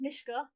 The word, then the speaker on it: Mishka: My name is pronounced Mishka because I get quite a lot of asks about that.